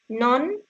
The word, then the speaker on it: none: No, none that I. None, the vowel E is not pronounced.